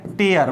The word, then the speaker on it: tear: समझिए, एक वर्ड होता है TEAR एज अ वर्ब, जिसका प्रोनाउंसिएशन होता है टेयर।